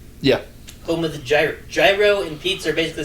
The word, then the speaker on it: gyro: a a a g I think it's pronounced Giro it's a gyro to me it's a gyro fair